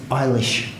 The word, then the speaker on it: Eilis: to talk about the novel he he said eilish ah yes well um I Googled it to